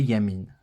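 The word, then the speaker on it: ימין: le Noun de fin qui nous fait Yamine et non pas du coup il y a mine il y a mis une on ne dit pas comme ceci non il y a pas de son lieu ici c'est juste la voyelle le yude CE ne se prononce pas mais il est noté pour dire que ici il y a un I qui se lit Yamine veut dire la droite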